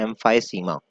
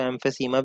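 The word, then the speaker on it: emphysema: पहला डिसऑर्डर है एम्फाइसीमा। इसको एम्फेसीमा भी कहते हैं, मैं तो एम्फेसीमा ही कहता हूँ, लेकिन स्पेलिंग अगर आपने याद रखनी है तो एम्फाइसीमा बोलते हैं, कोई इशू नहीं है।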